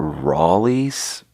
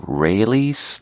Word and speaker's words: Raley's: from a store called rollies but it's supposed to be pronounced like rayleigh's like israelis that's how i try